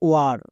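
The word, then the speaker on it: war: যেমন দেখো ওয়ার, এখানে ডব্লিউ এ এর জন্য ওয়া সাউন্ড হয়েছে। কেন?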